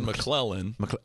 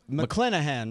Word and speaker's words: McClenahan: What did I say wrong? What is you it? said McClellan. McClenahan. McClenahan. See?